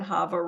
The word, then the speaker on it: Chava: can also follow me on Instagram at havar uh my middle name is spelled CH ha vaa um and that's where